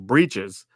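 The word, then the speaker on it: Breeches: seen this one too this one's Brites or as some people pronounce the hard pronunciation breaches uh eager pill two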